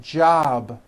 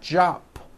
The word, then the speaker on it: job: is unvoiced for example JB ends in a b which is a voiced sound job it's not jop with an unvoiced P keep the voicing going throughout the whole word job with a voiced B ending same thing with robe